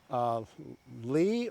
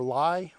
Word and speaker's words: Li: Jujube, Lee or Lai, we spell it L-I, so however you want to say that.